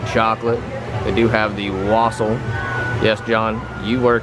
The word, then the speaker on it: wassail: they do have the wassail yes John you were correct even the lady here pronounce it Wassa not laselle now you're going to